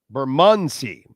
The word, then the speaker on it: Bermondsey: Bermondsey in London, England. That's how it's pronounced.